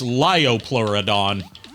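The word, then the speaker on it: Leopleurodon: Fun fact, uh that's actually not how Leo plur uh Leoplluridon is supposed to be pronounced, but it became so it like that became the way so many people uh were introduced to the Leoplluridon that's now accepted as a proper pronunci alternate pronunciation for it. The uh actual way it's supposed to be pronounced is liopluridon.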